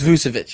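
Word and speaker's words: Vučević: I get that wrong but but it is vucevic yes I know okay so vusovich so I think it's Nicole I think it's Nicola vusevich I know vucevic I don't know Nicole I think it's Nicola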